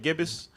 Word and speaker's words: gibbous: Now where you got the waxing gibbous, that's how you say it, gibbous.